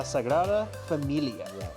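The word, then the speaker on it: Sagrada Família: to this absolutely enormous building known as La Sagra Familia.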